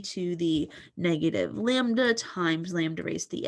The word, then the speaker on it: lambda: mean of the event so that upside down y is pronounced lambda now we are able